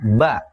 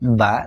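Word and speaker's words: باء: tengah dan di akhir namanya ba bunyinya mirip huruf b dalam bahasa Indonesia jadi kalau dikasih vokal dibacanya ba bi bu tiga ada huruf mirip ba tapi dikasih titik di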